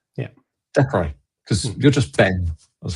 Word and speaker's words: Dechrai: How do you pronounce that? Dechrai. Yeah, Dechrai, because you're just Ben.